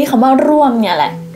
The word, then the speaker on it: ร่วม: ที นี้ คำ ว่า ร่วม เนี่ย แหละ ร่วม ใน ภาษา จีน น่ะ ไม่ มี สระ อ้วม แต่ ว่า เค้า ออก เสียง ได้ ชัด มาก เลย เข้า ร่วม เข้า ร่วม